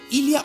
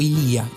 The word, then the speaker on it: Illia: Illia va a ser Illia o Ilía, está bien pronunciado de cualquiera de las dos formas, por las dudas, ¿sí?